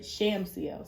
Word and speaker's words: Shamsiel: I did say it right. Shamsiel, sorry, that's the pronunciation.